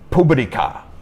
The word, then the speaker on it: Publica: Inclusive, antes do Corolla, do nome Corolla nascer, existiu o Toyota Publica, ou Publica, que é como o japonês pronuncia, né?